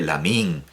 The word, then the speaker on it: Lamine: y me imagino que todo el mundo dirá lamine en lugar de lamin lamin con i larga no me parece lo